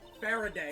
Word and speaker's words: Faraday: is kate fur today faraday faraday pronounce it bear a day fair a day okay and i'm training